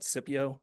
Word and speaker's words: Scipio: all of Utah, um is Scipio. Um there I believe Utah call it Cypio with a soft C.